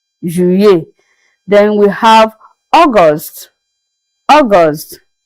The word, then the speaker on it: juillet: So the tactic here is that you pronounce the two letter L as if you are pronouncing just one letter Y. Then you get your sound of juillet, juillet.